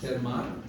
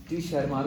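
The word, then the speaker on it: Tschermak: In 1900 3 scientist डिवरेस, Collins and वॉन शेरमान, टी silent होता है या उसको टी शर्मार भी बोल सकते हैं, आपकी इच्छा है।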